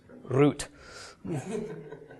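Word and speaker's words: רות: so yeah I mean Ruth sounds okay in English but in Hebrew it's root and that sounds kind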